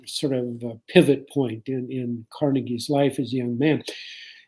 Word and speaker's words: Carnegie: other people etc etc carnegie makes a decision to change the spelling of his name and the pronunciation as well and he changed it to carnegie c-a-r-n-e-g-i-e so from carnegie to carnegie and i think there